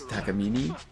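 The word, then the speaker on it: Takamine: or marketing or whatever, it's Takamini. Mm-hmm. Or at least that's how he pronounced it.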